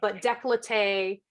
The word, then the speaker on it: décolleté: I think there's several ways now. At this point, you can probably get away with a couple different pronunciations, right?